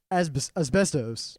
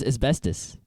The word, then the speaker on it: asbestos: He got me for saying asbestos instead of asbestos. No, the correct pronunciation is asbestos and not asbestos.